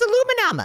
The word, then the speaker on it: aluminum: I don't think Cash knows what aluminium is, and it's pronounced aluminum.